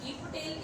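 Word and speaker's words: Gieve Patel: तो देखिए जी पटेल है जो यहाँ पर, या फिर गिप पटेल इसकी प्रोनाउंसिएशन हो सकती है।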